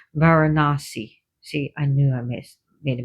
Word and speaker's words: Varanasi: Sorry, not Varanaris, Varanasi.